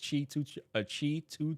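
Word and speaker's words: Qi2: That is such a weird way to pronounce that with that spelling, but it's Qi 2 charger.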